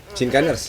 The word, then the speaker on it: Sinkaners: Sinkan gimana ya ini bacanya? Sinkanesia. Sinkaners.